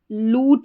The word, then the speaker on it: lute: तो यहाँ पर देखिए LUTE है, इसको लूट करके पढ़ेंगे। इसको ल्यूट नहीं पढ़ना है, लूट करके पढ़ना है।